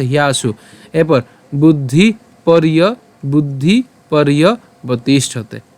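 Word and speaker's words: পর্যবতিষ্ঠতে: এখানে এখানে রেফ আছে, সো আমরা উচ্চারণটা কেমনভাবে করব? পর র হসন্ত পর্যন্ত উচ্চারণ করব, এবং যে অন্তঃস্থ আছে এর উচ্চারণটা ইয়র মতো হবে, তাহলে ইয় হবে ইয় বতিষ্ঠতে, ইয় বতিষ্ঠতে।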